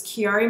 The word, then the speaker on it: Chiari: I was a very active person the proper pronunciation for my diagnosis is Chiari malformation I was also diagnosed with basilar in